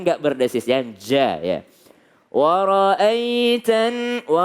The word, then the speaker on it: وَرَأَيْتَ: Wara'aitan. Kalau ada ya sukun, sebelumnya ada fathah, bacanya ai, ye, ya, ai, bukan e. Jangan jadi bukan wara'aitan, salah kalau pakai e, wara'aitan nasa karena banyak orang ya.